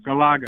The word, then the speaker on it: Galaga: Galaga. Galaga. Gala. Gaga. Oh yeah, Galaga. Yeah, yeah, yeah. I love that stuff. Galaga, Donkey Kong, Centipede, and Pac-Man.